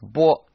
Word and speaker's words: 剥: Now this character is sometimes pronounced bo, but when it's used by itself to mean peel, the correct pronunciation is bao.